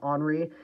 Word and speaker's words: Henri: It's pronounced Henri, not Henry. It's Henri.